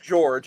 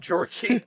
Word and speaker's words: George: oh I will say his name is just George it's not Georgie we keep saying